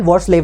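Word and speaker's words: Hvorslev: एल वॉट्सलेव ने दिया था। ठीक है? एच साइलेंट होता है यहां पे।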